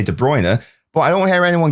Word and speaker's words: De Bruyne: The announcer at the Etihad for the past decade has been saying Kevin De Bruer. De Bruer, not De Bruyne. He's been saying the Belgium pronunciation. Now, I prefer the English pronunciation, so I say De Bruyne.